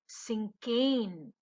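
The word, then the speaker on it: cinquain: this word exactly is and how do you pronounce this word this is a sinken so the word is sinkheans so what's a sinking a sinking is a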